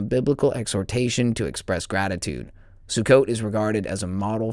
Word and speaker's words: Sukkot: Feast of the booths sucot sukkot. Oh yeah. Okay. Variations and spellings occur because these words are transliterations of the Hebrew word pronounced sukkot.